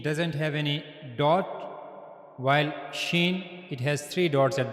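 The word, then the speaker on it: شين: So for pronouncing shen you have to use the middle of the tongue. This is the middle of the tongue and it will meet to the root roof of the mouth.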